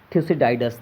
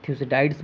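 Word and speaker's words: Thucydides: इसे लिखे हैं थ्यूसिडाइडस ने। बहुत सारे लोग इन्हें थ्यूसिडाइड्स बोलते हैं और मैं इन्हें थ्यूसिडाइडस बोलता हूँ, जैसा कि आप इन्हें जैसे भी प्रोनाउंस कर सके कीजिएगा।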